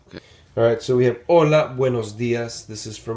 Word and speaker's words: hola: obviously, we all know hola, hola, right? But if it's daytime, if it's morning, you would say buenos días. All right. So here we have hola. Remember that H is silent.